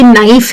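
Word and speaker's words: knife: लेकिन अगर कहीं पे के एन है जैसे कि नाइफ है या नॉक है या नो है तो उनमें हम के को कर देते हैं साइलेंट।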